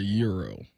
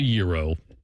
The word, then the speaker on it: gyro: Do you call it a gyro or a euro? It's called a gyro. Okay, how do you pronounce it?